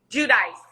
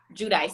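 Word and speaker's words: Giudice: um how do you say theresa's last name judice judice theresa judy so that so the teaser has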